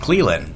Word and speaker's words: Clelin: Cleland. There you go. Good pronunciation. That's actually the right pronunciation.